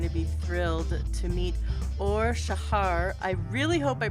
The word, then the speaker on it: Or Shahar: have thank you yeah all Shaha will be the right way to pronounce it but I think for